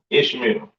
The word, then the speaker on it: Ishmael: And his name is pronounced Yashamayala. Right? Right? Is Ishmael, Salakia Ishmael, or Yashamayala in the Hebrew.